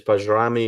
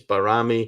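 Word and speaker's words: Bajrami: barami as well because people have said it's bami it's barami yeah you know I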